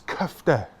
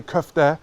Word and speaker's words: kofte: my friend cuff there or kofta it's cuffed yeah when you order a cuff there in a kebab shop say cuff there and the kebab man